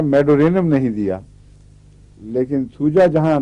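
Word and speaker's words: Medorrhinum: नहीं, मेरे ख्याल में मेडोराइनम नहीं है, मेडोरिनम है, ये मेडोरिनम।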